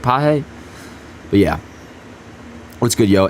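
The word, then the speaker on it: Pagés: Teoscar Hernandez, Jason Hayward, and how do you say Page's name again? It's Pages or some shit. Paje.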